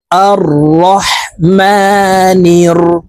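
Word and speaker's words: الرحمن: আলামিন আলহামদুলিল্লাহি রাব্বিল আলামিন আর রহমানির এখানে আলিফের উপরে জবর নাই জবর দিয়ে হামজা বলে তাসকিদ র কে ধরবো আর রহমানির রাহিম রাহিম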